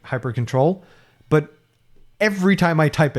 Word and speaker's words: hyprctl: And it's very frustrating because the command for configuring Hyperland is hyprctl, like hypercontrol.